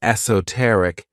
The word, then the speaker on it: esoteric: favorite adjectives is esoteric this word has four syllables and the stress is on that third syllable esoteric when we describe something as esoteric we're talking about something